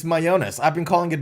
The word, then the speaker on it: Mayones: It's Mayones. I've been calling it Mayones forever. Holy schmo. All right. Now we know. It is Mayones. Which is a lot closer to mayonnaise, but that's okay.